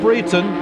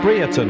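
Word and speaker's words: Brereton: well at the moment that's Nyla Breton breerton I should say for Megan I'm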